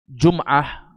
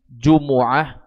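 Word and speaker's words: جمعة: Terkait dengan masalah Jum'ah, ini bisa dibaca dengan dhammah mimnya, Jumu'ah, babu salatil Jumu'ah. Kalau Syekh Abdurrahman bin Nasir As-Sa'di di sini membacanya dengan dhammah, Jumu'ah, mimnya dhammah, Jumu'ah.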